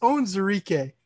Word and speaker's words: Onwuzurike: we have levi and i have my own pronunciation written out so it's own zarike that's how we say his last name don't